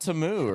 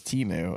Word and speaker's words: Temu: Which I thought it was Temu, and so did most of the country. But no, the commercial at the Super Bowl pronounced it like Temu or something like that. Maybe they were wrong. And we're all like, that was like the number one trend on X was like, it's not Temu or whatever.